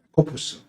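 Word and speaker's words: Ἰάκωβος: 그럼 이것이 헬라어로 발음하면은 야코푸스.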